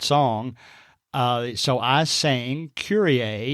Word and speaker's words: Kyrie: I was going down and taking row I pronounced uh one girl's name as Kyrie it was spelled KY r i e and